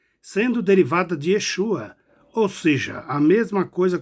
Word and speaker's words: Yeshua: sotaque diferenciado, mas é Yeshua, do mesmo modo que outros leitores, que sempre devem ter lido com tônica da letra vogal E, ou primeira sílaba, e não da letra U, como alguns erroneamente pronunciam.